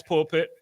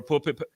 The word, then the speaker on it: Pulpit: But yo, let's switch over to Pat and the Pat's Pulpit or Pulpit. Am I saying it wrong? Yeah, Pat's Pulpit. You got it.